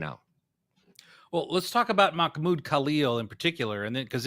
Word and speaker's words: Mahmoud Khalil: Mohammed Khalil, is that how you say it? Either way. Well, it's yes, Mahmoud. 20 million. It's Mahmoud Khalil.